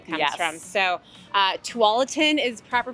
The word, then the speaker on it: Tualatin: is where the name comes from so uh Tualatin is proper pronunciation if you're new to the area or